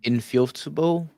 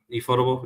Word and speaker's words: Ufotable: Infutable, I think that's how you pronounce it. Infutable, Infotable, Uh, Ufotable, yeah.